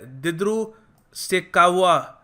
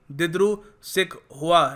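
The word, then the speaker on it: Dibru-Saikhowa: फिर है दिद्रू सिकावा national park, sorry मगर मेरी प्रोनाउंसिएशन थोड़ी गलत थी, दिद्रू सिकहुआ नेशनल पार्क।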